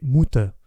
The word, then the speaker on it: Mutter: Or, maman, en allemand, c'est Mutter, et comme la lettre U se prononce OU, ainsi que chacun sait, et que les enfants germains prononcent tar plutôt que terre, c'est bien le mot